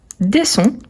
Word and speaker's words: descends: moi je descends ici le DS à la fin on ne prononce pas attention car on a